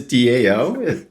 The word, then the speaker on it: DAO: it wrong already okay no worries it is Dao definitely how it's spelled and it is indeed an acronym and